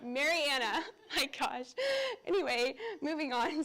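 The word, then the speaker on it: Marianna: um here's two pictures from marinara Florida marinara Mar not marinara Marana I gosh anyway moving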